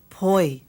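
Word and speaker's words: poi: how about the staple food of all Haans po okay Po and that it ends in an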